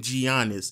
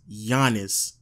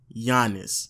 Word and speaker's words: Giannis: I really get annoyed when people call him Giannis it's obvious that it's Giannis just go look it up is pronounced Giannis Giannis but you know that's just me I'm just